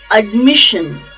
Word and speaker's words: admission: just adjustment admission admission the stress is on second syllable mish admission I wish honey the